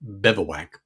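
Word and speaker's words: Bivouac: Yes, I said it right. Bewac, just like bivowwak, the tent lingu, whatever you want to call it.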